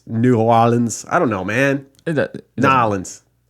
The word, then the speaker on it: New Orleans: Lions Jans, rated 5 stars, said that her only complaint was the ridiculous pronunciations of New Orleans in the Axe episode. It's New Orleans.